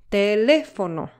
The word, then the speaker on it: teléfono: The last word, teléfono, has the stress syllable on the third to last syllable, the antepenultimate syllable.